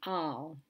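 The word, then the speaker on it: אַל: letters is the pataka and this will be al al is a negation particle particularly used with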